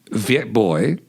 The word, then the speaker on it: Viet Bui: Viet Bui, am I pronouncing your name correctly?